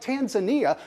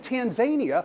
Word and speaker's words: Tanzania: would have smucked up the pronunciation of a country like Tanzania, calling it Tanzania, which is insania for a presidential candidate running for president of the United States.